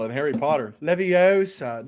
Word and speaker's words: Leviosa: How do you pronounce the floating spell in Harry Potter? Leviosa, not Leviosa.